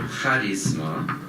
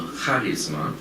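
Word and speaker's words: χάρισμα: course of this talk I'll pronounce the Greek word harisma in our discussion but please note that I'm accenting this first syllable kisma thus making a difference differentiating it from the English word Charisma Charisma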